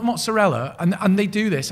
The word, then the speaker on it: mozzarella: I'm going to make it with some mozzarell. Right? Not mozzarella.